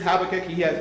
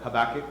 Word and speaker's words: Habakkuk: All right, because here's Habakkuk. Or Habakkuk, however you want to pronounce it. Either way is fine.